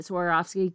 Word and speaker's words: Swarovski: Jewels like um how do you say it Swarovski Crystals and and um they're kind of like